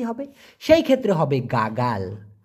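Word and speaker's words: gagal: হবে সেই ক্ষেত্রে হবে গাগাল গা গাল উচ্চারণটা হবে গা গাল গাগাল মানে কি ফেল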